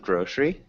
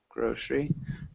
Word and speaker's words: grocery: Nice pronunciation of grocery. Do you remember grocery? So Grocery. That E, yeah, so that E is pretty much silent.